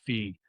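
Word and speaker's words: phi: Thought that was the Greek letter fee was for parocity.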